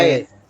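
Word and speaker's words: ㅐ: E atau ae a e Iya seperti ini ya Oke jadi penulisan Latinnya itu ae seperti ini tapi dibacanya e dibacanya apa dibacanya e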